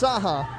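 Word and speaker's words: Cahak: Because it's pronounced Saha, but it's spelled C-A-H-A-K, right?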